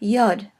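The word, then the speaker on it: יוד: next is the letter Yad it is either pronounced like yeah at the beginning of a word or syllable or it can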